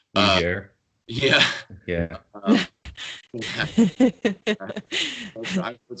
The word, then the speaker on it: Niger: Niger comes to mind, and that's a very awkward mispronunciation. Be careful, folks. Niger.